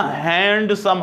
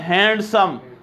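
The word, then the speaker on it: handsome: एक लव से ना हैंडसम हम बोलते हैं इसको उस्मान यह कैसे पढ़ रहे हैं ए एस एच ए एन डी एस ओ एन यह जब हम पढ़ते हैं हैंडसम यह हैंडसम बीच साइलेंट यह इस्तेमाल होता है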